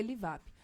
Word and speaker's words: Livup: Lembrando que Livap se escreve L-I-V-U-P, se escreve Livup, mas se lê Livap.